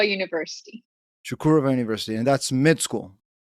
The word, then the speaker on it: Çukurova: Help me with the name of the university, because I'm So probably going to mispronounce it. It's Çukurova University. Çukurova University, and that's med school.